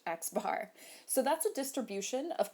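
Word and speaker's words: x̄: an x with a bar on top literally pronounced x bar so that's a distribution of quantitative data and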